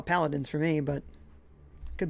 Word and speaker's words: Paladins: stream welcome dude says my friends are saying that's pronounced flattens I swear it's paladins but they don't believe me why is another a there if it's platon doesn't make sense paladins